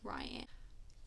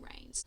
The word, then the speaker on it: Reign: male main character Reign I was pronouncing him as Ryan don't worry about my pronunciation apparently eat some rains so rain is our male main character